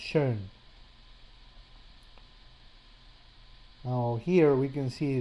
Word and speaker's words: schön: In this case, for example, it's using a digraph, combination of two vowels, to represent a sound that's between an O and an E, that is pronounced schön.